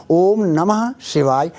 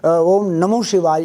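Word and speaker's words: ॐ नमः शिवाय: शिवाय नहीं होता है कहीं पर भी नमः शिवाय ओम नमः शिवाय यह ऐसा बोलेंगे तो ठीक होगा क्योंकि ओम नमो शिवाई वह नहीं नहीं होता है नमः शिवाय का उच्चारण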